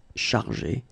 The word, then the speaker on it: chargé: In both cases, you don't pronounce e and you don't pronounce s. So it will go like chargé, okay, for all the versions.